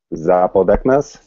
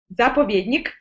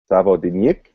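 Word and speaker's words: заповедник: Help me out with the pronunciation. That was Zapodeknas? Zapovedni, great. You're doing a great job. Hold on. Slow it down. We'll say it again. Zapovednik. Zapovednik.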